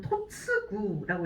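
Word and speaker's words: 嫁ぐ: 근데 시집갈 가짜는 어떻게 읽냐면 토츠구라고 읽어요. 토츠구.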